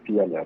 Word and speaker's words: Fialayre: Es Fialaire, pero se pronuncia Fialar. Es Ah, lo mismo. Fialer, perfecto.